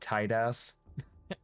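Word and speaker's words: Tidus: Gas used to saying, "Excuse you, his name is pronounced Tidas." I like how people just have their own interpretation for what his name is. I've always called him Titus.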